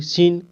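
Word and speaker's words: scene: कैसे देखिए जैसे य एस सी ई एनी सीन यहां पर एस के बाद सी आया तो सी का उच्चारण नहीं हो रहा है ठीक है ए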